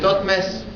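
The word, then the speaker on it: Thoutmès: Derrière Thoth, on voit les 3 flancs cloués qui se prononcent Mess. Donc le nom écrit c'est Thothmès. Thothmès, c'est Thothmosis.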